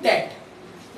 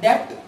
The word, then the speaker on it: debt: Loan या long term डेट। याद रखिएगा इस लफ्ज़ के अंदर बी जो है वो साइलेंट होता है, इसको आप डेप्ट नहीं बोलेंगे, बोलेंगे बल्कि डेट। ई साइलेंट है, DEBT डेट।